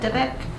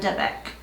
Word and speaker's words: dybbuk: I think that's how you pronounce it, dybbuk.